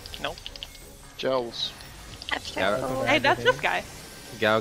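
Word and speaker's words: Gaols: It's pronounced Jails. Jails. There you go. Gowls. Nope. Jails.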